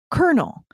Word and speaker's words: Colonel: So Jeff says, another word I struggle with is kernel. There's no R in the spelling of kernel, but it's pronounced with an R sound.